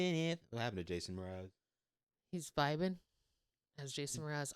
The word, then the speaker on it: Mraz: Well, like, because I just thought about it, because I was like, because I always thought his name was spelled like Mars, like Bruno Mars, but just like said differently. Yeah, Mraz.